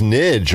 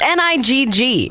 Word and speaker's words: Nigg: You think it's Nidge? I'm just saying. It's Nigg.